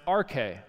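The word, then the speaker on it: ἀρχή: chapter 1 the Greek word for beginning is pronounced RK we know it from from words like arch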